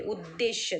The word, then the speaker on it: उद्देश्य: क्या है, और विधेय, बराबर प्रोनाउंस करो, ये उद्देश्य, द को द जॉइंट है, और श और य, उद्देश्य, और ये है विधेय,